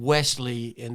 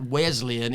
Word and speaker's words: Wesleyan: guys it's Wesleyan John Wesley and those guys from the Methodist Church is who it's named for it's not Wesleyan it's Wesleyan okay I've got it out of my system s not Z got we have been